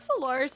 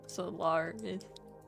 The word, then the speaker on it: Solar: Solar when he's angry. Just get Stormy. Turns out Turns out we were saying his name wrong the whole time. It's just Solar is solar.